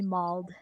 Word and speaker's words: mauled: I did say mauled. Oh, I apologize. It's because of my German accented voice pronounces the a sound in mauled as an ah, so kind of Mold. Yeah. mold instead of mauled.